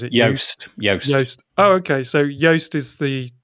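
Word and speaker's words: Joost: okay so the first one is on the juiced dot blog i don't know if i've said never pronounced that right juiced or is it yoast oh okay so yoast is the pronunciation so yeah yoast.blog but it's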